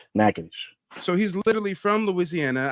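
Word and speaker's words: Natchitoches: it's called nages nages nades yeah nages people say NAD and all but it's nadish so he's literally from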